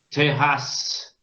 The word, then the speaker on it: terrasse: Pero ¿qué pasa con terrasse? Al ser duplicado suena más suave. Suena como la S nuestra. La doble S francesa suena como la S española.